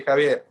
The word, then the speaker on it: Xavier: my name will be xavier it's spelled that's how it's a spell but in spanish we say javier and at least where i am from there's other ways to pronounce it but um thank you